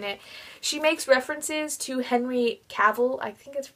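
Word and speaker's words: Henry Cavill: lose yourself in it she makes references to Henry caval I think that's how you pronounce it the actor who plays Superman and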